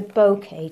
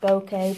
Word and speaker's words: Bokeh: backgrounds mostly so right now we're doing the bouquet technique think that says called pronounced bouquet bouquet and this is a really nice soft